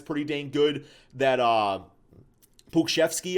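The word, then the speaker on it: Pokuševski: dang good that uh pukeshevsky i believe pokushevsky i think is how you say it he's been looking like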